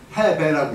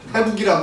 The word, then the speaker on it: 해배: 해배라고 읽습니다. 해북이라고 안 읽습니다. 이때는 등질 배입니다.